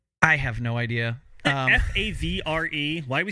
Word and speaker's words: Favre: have no idea um f a v r e why are we saying Favre even though that is how you're supposed to say it anyway okay sorry probably